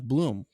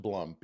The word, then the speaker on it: Blum: and World Series Champion by the way Jeff Bloom how you doing I'm good and not to get on you too early but the last name is pronounced Blum Blum that's right I'm sorry no problem no